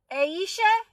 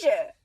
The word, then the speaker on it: Aisha: it right is it is it Asia or Aisha girl was I saying your name wrong the whole time Aisha I'm saying Asia wasn't I I think I was